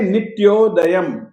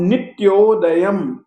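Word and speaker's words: नित्योदयं: त के कारण से हम नित्य ऐसा नहीं बोलेंगे हम बोलेंगे नित्योदयम दलित दलित मोह महानध अनुस्वार ध के पहले आएगा मोह महान ध कारम ये जो अनुस्वार है इसका उच्चारण अंत में होने के कारण से हम म के रूप में करेंगे परंतु हलंत म के रूप में करेंगे। फिर से कहता हूं नित्योदयम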